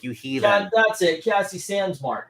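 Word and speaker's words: Cassie Sandsmark: I don't remember her Cassie sansar you Heathen that's it Cassie sandmark you keep saying it wrong Zach's gonna attack you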